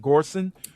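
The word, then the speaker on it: Göransson: Ludwig, is it Gorson? Gorson. Jason, that's how you pronounce his last name. Gorson walked composer.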